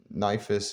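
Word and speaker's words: Nephthys: And Nifis is, I think, the correct way to pronounce her name.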